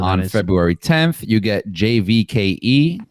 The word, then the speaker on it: JVKE: February 10th you get jvke is that how you say it it's Jake oh it's just Jake I think so yeah